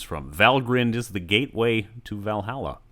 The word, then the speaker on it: Valgrind: to pronounce them correctly the endings are pronounced grinned and not grind where do they take their names from valgrind is the gateway to